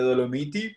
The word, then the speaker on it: Dolomiti: recuerda las dolomitas bueno no sólo se pronuncia en italiano le dolomiti pero pero bueno otro